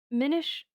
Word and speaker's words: Minish: Minish. you. Whatever. Whatever, man. This is so good. Whoa. I use this letter in my language. Min. Oh, wait. Sorry. No. Minish. Minish. Like mini. Miniature.